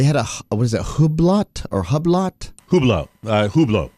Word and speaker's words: Hublot: I don't know uh what is a Hublot Hublot I think oh yeah I think it's a French pronunciation this is what I